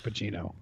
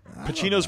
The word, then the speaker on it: Pacino: Pacino's pretty good in Scarface, though, I must say that. Yeah. Yeah. But his C doesn't have H in it. It's Pacino. You don't say Pacino.